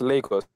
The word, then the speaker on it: Lagos: Lagos, Nigeria? Yeah, it's pronounced Lagos.